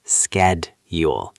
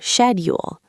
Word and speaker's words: schedule: In American English, we usually pronounce it with a K sound, schedule, like school, schedule. Correct. I say schedule, but in British English you will often hear schedule, like a shed in the garden.